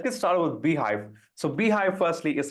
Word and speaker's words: Beehiiv: communication skills as well and my understanding of beehive as a platform so I'm going to dive